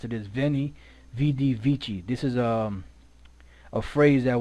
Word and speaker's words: veni vidi vici: what it looks like now they have two vocalizations here right two ways to pronounce it so I'm going to go with both and let you hear both of them waney witty wiki SI weyn e witty